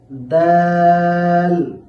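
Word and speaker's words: دال: এরপর আমরা শিখব দাল। এই দাল হরফটি উচ্চারণের সময় সামনের উপরের দুই দাঁতের গোড়ার সাথে জিহ্বার আগা লাগাইতে হবে। সেখান থেকে দাল হরফটি উচ্চারিত হবে। যেমন দাল দাল তারপর দাল।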